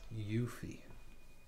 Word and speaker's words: Yuffie: yuffie yuffie okay you say it like that yuffie all right that's the last mission for now